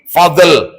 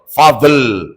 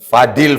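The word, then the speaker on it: Al-Fadhl: Al spasi Fadl. F A D H L. Fadl. Fadil. Fadl. Fadl.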